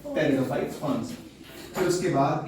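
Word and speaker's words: pteridophyte: टेरिडोफाइट्स। इसमें P silent होता है, इसको टेरिडोफाइट कहते हैं।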